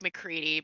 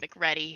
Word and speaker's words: McReady: It's like McCready, but not. It's pronounced McReady here.